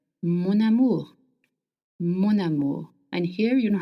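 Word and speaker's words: mon amour: Now if you want to call someone my love in French we link words together. So amu starts with a vowel and m ends with n. So you will link the words together. Monamour monu.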